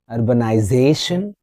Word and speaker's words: urbanization: Is it urbanization or urbanization? Which one is correct? Can you guess? Let's discuss. It's Urbanzation is 5-syllable word. The stress is on Z.